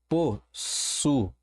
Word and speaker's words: possuído: Genuíno, I tônico, separado na sílaba ou acompanhado da letra S, não seguido de NH, recebe acento. A mesma coisa, possuído, olha como é que é a separação, possuído,